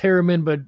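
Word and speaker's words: Haramein: But to me, it's always been, I agree with you, Nassim Harameen, pronounced Harameen, but spelled the second way we have on screen here.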